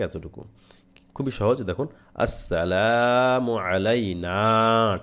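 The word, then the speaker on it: عَلَيْنَا: খুবই সহজে দেখুন আসসালামু আলাইনা টান হবে শেষে এই নাতে আমরা অনেকে টান দেই না এই যে নুনের পরে জবরের পরে খালি আলিফ আছে এই টানটা আমরা অনেকে দিতে চায় না এই যে আইনটা উচ্চারণ করবেন এখানে আসসালামু আলাইনা আসসালামু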